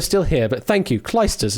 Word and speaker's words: Clijsters: Clijsters is apparently the way to pronounce it.